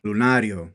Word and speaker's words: Lunario: I want to make sure I pronounce the name correctly. The name of the album, Lunario.